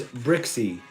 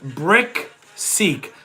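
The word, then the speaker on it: BrickSeek: It is Brick Seek. Like throw a brick, you build a house with bricks, brick, and then seek. like seek and destroy. You know what I mean? So brick seek.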